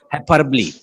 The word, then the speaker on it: hyperbole: करना, उसे कहते हैं हाइपरबली। बहुत सारे लोग इसको हाइपरबोल बोलेंगे ना, नो इट्स नॉट अ हाइपरबोल, I have checked from the dictionary, but the exact pronunciation is हाइपरबली। Okay, so the pronunciation is a hyperbole.